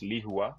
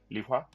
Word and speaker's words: Lihua: I'm pronouncing that right because in English it just reads liwa but the way they're saying it I'm going to say the same thing lia so and given that